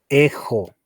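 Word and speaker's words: ἔχω: Para primera persona diría singular, ejo, ejo. Recordarles de que la primera letra es epsilon, la X suena como G y omega.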